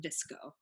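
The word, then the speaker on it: VSCO: it's spelled case you care care if it's pronounced disco so if you just go into your App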